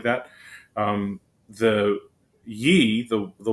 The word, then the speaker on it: ye: the country store that the y was supposed to represent the th sound um and it did